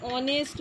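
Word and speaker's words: honest: জানি এটা কি ভায়েল, সাউন্ডটা আমাদের ভায়েলের মতো হচ্ছে, অ হচ্ছে আমাদের স্বরবর্ণ, সেই জন্য কিন্তু উচ্চারণের জন্য দেখো এখানে কিন্তু এ না হয়ে অ্যান হয়েছে।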